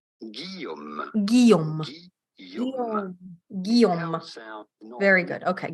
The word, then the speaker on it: Guillaume: In French, in France, we would say Guillaume. Guillaume. Guillaume. Very good. Okay, Guillaume.